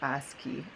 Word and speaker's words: ASCII: code table it's well AS CII which we pronounce it ASCII ASCII codes and notice